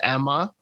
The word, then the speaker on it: Ema: 2019 release i think that's how they pronounce her name in the movie is emma but it's spelled e-m-a and it has uh